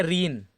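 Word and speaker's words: reign: ऐसे देखिए हमारा क्या है, रीन। देखिए जी साइलेंट है, कह रहा है ना एन से पहले अगर जी लिखा हो तो जी को क्या पढ़ेंगे हम, जी को साइलेंट पढ़ेंगे।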